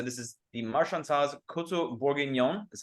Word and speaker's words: Bourguignon: So wine number 3 here so this is the Marchand-Tawse Coteaux Bourguignon. That's how you pronounce that. Bourguignon.